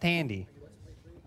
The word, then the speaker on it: Thandie: I believe it's pronounced Tandy.